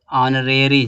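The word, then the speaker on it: honorary: इसको क्या पढ़ेंगे ऑरेरी ऑनरेडी जॉब तो ऑनरेडी में एच साइलेंट है ना इसके पहले आर्टिकल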